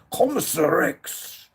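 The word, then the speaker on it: Kommissar Rex: Commissarex is how it's pronounced.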